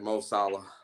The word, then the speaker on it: Mo Salah: Nine at the top of the list, we got Mo Salah. Did I pronounce that right?